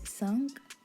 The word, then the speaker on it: cinq: So we've made it to look number sunk. Sunk is how you say 5 in French, by the way.